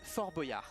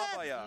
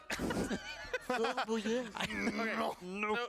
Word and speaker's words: Fort Boyard: letters you pronounce that's not pronounced. It's Foie gras. It's Fort Boyard. That's exactly what I said. Fabaya. Nope. Fort Boyard.